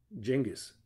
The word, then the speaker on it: Cengiz: ich kenne da jemanden cengiz das c wird wie die ausgesprochen und das z wie ein weiches es aber das hat mir